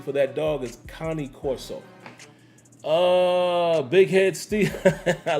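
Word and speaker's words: Cane Corso: 007 few late nights uh underground Kane Corso Connie Corso is how you actually pronounce that dog folks a lot of people say Kane but the actual pronunciation for that dog is Connie Corso uh big head Steve I like that big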